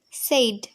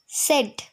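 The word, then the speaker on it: said: সেইড। সেইড। আচ্ছা ঠিক আছে, এটা আমরা সেইড বলি, কিন্তু এটা সঠিক উচ্চারণ হচ্ছে সেট। সেট। সেড। ইয়েস, দন্ত স একা আর ড, সেট। ওকে, সেইড হবে না, সেট।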